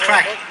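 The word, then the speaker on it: craic: It's pronounced crack, same as C-R-A-K here.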